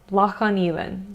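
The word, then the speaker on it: Loch an Eilein: It's Loch on Elan. Loch on Elan.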